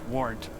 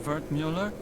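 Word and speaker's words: Wertmüller: well yes well sometimes wart cut up version of vert Mueller it's German from my father he said to always insist on the umls otherwise people butcher the pronunciation so often butchered it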